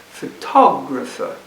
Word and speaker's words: photographer: And so they think for a moment and then they can put the stress on this one, photographer.